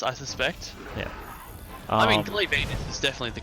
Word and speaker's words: Glavenus: I mean, Glavenus is definitely the correct pronunciation.